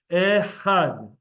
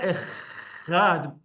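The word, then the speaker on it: אחד: Ehad. Ehad. Also, there's throat in there. It's not echad. It's ehad.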